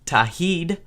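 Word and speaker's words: Tauheed: Kind of hard to pronounce. It's Tahid.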